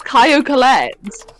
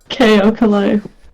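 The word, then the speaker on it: Caio Collet: Why is the T pronounced? I'm because he's Brazilian. Yeah. He's Brazilian. I'm gonna Google. It's Caio Colette. Caio Colette. Caio Colette. Caio Colette. KO. I don't know why I said KO. KO Kalei. I love KO Kalei. KO Kalei. Sorry, KO Kalei. I'm Kyle Collett. okay. They do pronounce the T.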